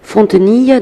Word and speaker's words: Fontenille: Alors on va rappeler Kevin, bon c'est le prénom normal, ça s'écrit normalement, Fontenille, donc on va peut-être l'épeler Fontenille.